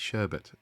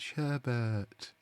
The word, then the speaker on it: sherbet: It's sherbet. It is sherbet, but sherbet is how he ends up pronouncing it.